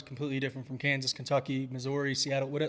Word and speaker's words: Missouri: got a little also it's pronounced misery misery that's what I've heard from people who live out there right but no it's